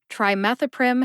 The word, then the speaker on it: trimethoprim: move on to trimethoprim trimethoprim has four syllables try like I'm trying to pronounce this drug name like methanol o like the letter o in the alphabet however when I say